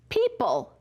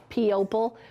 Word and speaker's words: people: Remember I told you that little trick to help you remember the O, P-opal? We say it funny to help us spell it, but it's really said people.